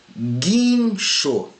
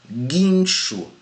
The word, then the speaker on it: guincho: Agora observe quando eu pronuncio aqui, guincho. Aqui não tem ditongo, porque eu não pronuncio guincho. O som do U não sai, pessoal. Então aqui é guincho.